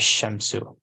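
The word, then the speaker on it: الشمس: in the um Etc when L is prefixed to a noun beginning with the solar letter the the Lamb of the AL is assimilated to the stolar letter example is pronounced as shensu no changes takes place in writing the assimilation is indicated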